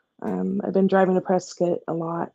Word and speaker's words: Prescott: that's what Arizona does presc right presc yeah but it's but it's spelled Prescott you know yeah when I read that that's how I read it Prescott yeah um so little